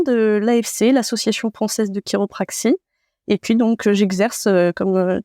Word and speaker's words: chiropraxie: Alors la chiropraxie, donc on dit chiropraxie, mais en effet ça s'écrit CHI.